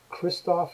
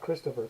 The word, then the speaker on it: Christophe: at this part but it's Kristoff not Christopher Kristoff G Gerard carer